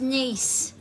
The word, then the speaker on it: Nice: R nice was it oh silly Brian it's pronounced nice oh you're joking aren't you have they let